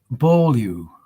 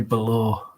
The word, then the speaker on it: Beaulieu: That's a compound of two words, that last name. Rodney Beaulieu. But it's not Rodney Below. Although he may pronounce it like that. It depends, doesn't it?